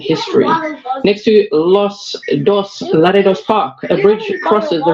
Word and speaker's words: Laredo: Laredo.